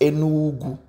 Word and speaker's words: Enugu: It is pronounced as Enugu.